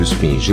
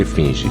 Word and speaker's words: efígie: Algumas vezes as pessoas se confundem com esse termo pronunciando esfinge ou efígie, mas o termo correto é efígie.